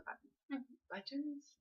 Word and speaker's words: buttons: And then I get vintage buttons, and I sew the buttons. Buttons. Somebody said I said it wrong. Buttons. There's a T in buttons.